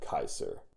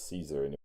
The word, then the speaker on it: Caesar: call him Gaius Julius Caesar that's actually true the sea in Latin is a hard C so that it sounds more like Kaiser that's actually where we